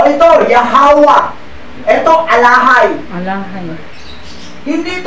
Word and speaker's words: Yahawah: Kasi ang original talaga, Yahawaha. Ngayon, sa ancient Paleo Hebrew sound roll, silent, the last vowel sound.